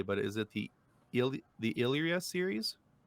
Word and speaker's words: Illyria: look those things over, and I'm hoping I'm pronouncing this correctly, but is it the Illyria series? Illyria.